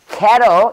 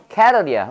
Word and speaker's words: cattle: 이거는 근데 애고요. 이거는 애예요. 이거는 cattle. 이거는 cattle이야. 오케이? 이건 뭐라고? 의에서 하는 거죠. 해봐. cattle. cattle. 의에서 해.